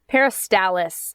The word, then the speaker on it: peristalsis: Anyways, it's called peristalsis. Peristalsis, I believe.